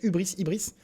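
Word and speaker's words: hubris: Alors, Ibris, ça s'écrit aussi H-U-B-R-I-S, Ibris.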